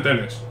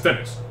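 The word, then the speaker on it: Telles: En Brasil se dice teles. Pues entonces es teles. Si en Brasil se dice teles, será Nexteles. Hay que pronunciarlo en su idioma original.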